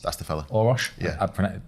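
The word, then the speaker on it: Orosz: And also, just while you were talking, I did search the Pragmatic Engineer by Gergely Oros. That's the fella. Orosh. Yeah. I butchered his name there.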